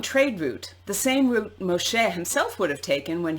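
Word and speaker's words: משה: children of israel are led by moshe the original biblical pronunciation of moses into the wilderness the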